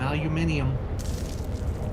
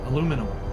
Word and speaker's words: aluminium: Some aluminium. Ew. Come on now. Say it right. Put Put an extra eye in there. Oh yeah. PK's not here. I can say it. Aluminum.